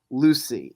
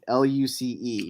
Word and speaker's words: Luce: We're going in with It's spelled Luce, not Lucy.